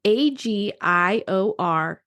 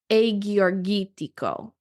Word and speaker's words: Agiorgitiko: So when you're looking at it, there are two G's, and I'm actually pronouncing those G's like Y's. So it's Agiorgitiko. So it looks like Agiorgitiko, right? Now, instead of saying the G sound for the G, I'm saying the Y sound like Y.